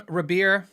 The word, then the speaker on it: Rabea: Luke said, hey, Phil, any thoughts on, and I'm Rabea. I always say Rabea. I know it's with an R.